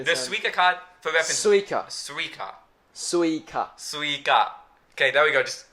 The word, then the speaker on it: Suica: Suica. Okay, there we go. Just You're ignore saying it. like Suica, like SW. Oh, Suica. It's Suica.